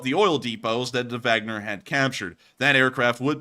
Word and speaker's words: Wagner: around two hours after the Wagner orth Wagner as people are now telling me is pronounced had captured voranesh we